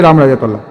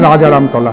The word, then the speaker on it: রামরাজাতলা: রামপূজার বর্ণময় ইতিহাসের জেড়ে এলাকার নামই হয়েছে রামরাজাতলা। যদিও অবাঙালীরা এখনো উচ্চারণ করেন রাজা রামতলা।